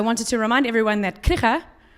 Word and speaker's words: Krige: to remind everyone that Krige, which is the person that Krieging was named after, you have to add the Dutch G to the pronunciation.